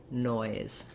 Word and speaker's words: noise: Oi, boy, noi, noise. So you heard, as I was saying the word noise, you might find it helpful to say it without the final sound. Just saying noi, like you would say in boy or toy, gives you time to get that oi vowel.